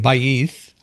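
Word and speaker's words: Ba'th: But Baith is how she pronounces her last name, Baith. I'm saying that right, I assume. That is correct.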